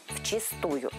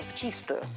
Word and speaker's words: вчистую: рассказать про новое слово произношение которого вызывает много споров в чистую или в чистую сейчас узнаем как правильно все-таки сегодня в 21 веке чистую хотя ваш пра-пра-дедушка если бы сказал в чистую на тот момент в 19 веке не ошибся бы раньше ударение было таких но не забудем